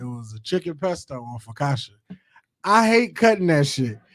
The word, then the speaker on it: focaccia: pronounce this bread. I assumed it's like Focaccia.